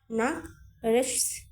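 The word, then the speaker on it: nach rechts: থেকে কোন অক্ষর নাই সিএইচ এর উচ্চারণটা স এর মত হচ্ছে এগুলা কিন্তু আমরা যুক্তবর্ণতে শিখেছি নাক রেশ নাক রেশ এরকম এটার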